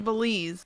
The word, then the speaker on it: Belize: Yeah, You can't even pronounce the country. It's Belize.